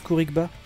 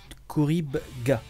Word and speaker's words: Khouribga: une petite ville minière e corinne pas comme ça que ça se prononce khourigba non couric khouribga je ne suis jamais